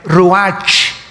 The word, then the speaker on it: ruach: El ruach, que se escribe R-U-A-C-H, ruach en el hebreo, y se pronuncia igual ruach.